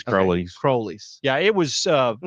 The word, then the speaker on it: Crowley's: Okay, now is Crowley's the correct pronunciation? I've always called it Crowley's Ridge. No, it's Crowley. It's Crowley's.